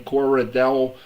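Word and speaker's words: Cordarrelle: a quarter how how you say his name Cora Dell Patterson oh okay yeah yeah he's uh I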